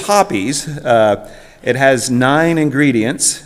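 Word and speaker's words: Hoppe's: Um and the pronunciation is Hoppies.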